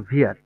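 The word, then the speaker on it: wir: ইহা তারপর হচ্ছে ভিআর এটার উচ্চারণ ভিআর কারণ ডব্লিউ এর উচ্চারণ কি হয় ভি ইয়ার ভিআর ভিয়ার হচ্ছে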